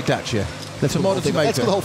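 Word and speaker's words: Dacia: studio rich harrison says it's pronounced dacha with a t in the middle not it's desire romanian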